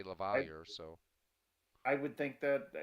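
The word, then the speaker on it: LaValliere: it Lavalier. Lavalier. Lavalier, okay. That's how they've always said it in Pittsburgh. I mean, it's a French name. It should be Well, Lavalier, but they always say Lavalier.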